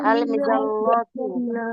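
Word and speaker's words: المظلة: লামের উচ্চারণ আলাদা স্পষ্ট হবে, তাই আলিফ লাম লাগান দেখি। জি স্যার আল মিদাল্লাতু আল মিদাল্লাতু।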